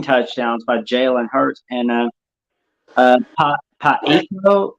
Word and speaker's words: Pacheco: Those 3 rushing touchdowns by Jalen Hurts and Pacheco, how do you say his name? The running back from Kansas City, Pacheco.